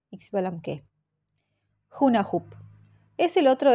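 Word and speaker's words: Xbalanqué: de pelota tiene un nombre bastante difícil para pronunciarlo como se debe lo mejor es repetirlo al menos cuatro veces xbalamque xbalamque xbalamque xbalamque hunah hup es el otro héroe hermano del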